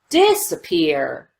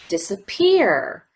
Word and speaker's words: disappear: but here it doesn't if both of these syllables received primary stress it would sound like this disappear disappear disappear but because we don't spend quite as much time on the D disappear it we categorize that as secondary stress and if you notice